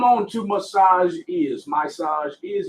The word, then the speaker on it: Myssage Is: to massage your ears massage is it's pronounced my size and it's spelled m-y-s-s-a-g-e-i-s